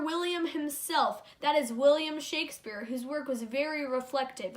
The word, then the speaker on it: Shakespeare: the Renaissance his name rhymes with Lake spear and he wrote something